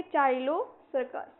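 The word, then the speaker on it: Ptilocercus: उसके बाद इसमें हमारा इसमें भी P जो होगा वो साइलेंट होगा। इसको हम बोलेंगे अ मेरा कैमरा इधर हो गया लग रहा है ना एक मिनट सही है चलिए इसको हम बोलेंगे टाइलो सर्कस टाइलो हम कह सकते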